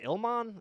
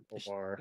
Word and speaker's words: Ilhan Omar: are going after AOC, and is her name Ilman or is that her name? I've never I'm actually, not good at pronouncing it. I've It's never like even pronounced it. Ilhan Omar.